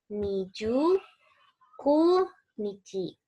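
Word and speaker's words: 二十九日: Niju Ku Nichi. Kenapa ku? Karena dia jadi tanggalan. Kalau bukan tanggalan kan jadi Nijukyu ya. Tapi karena dia tanggalan jadinya Nijuku Nichi.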